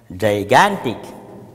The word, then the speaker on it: gigantic: yes you are right gigantic the first G is pronounced as but the second G is pronounced as G has two sounds and hello children good